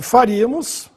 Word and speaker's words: faríamos: No caso de faríamos, é bom dividir a sílaba, né? Você tem fa, iri, a, mos. Mais uma vez, proparoxítona, sílaba tônica no ri, agudo no i.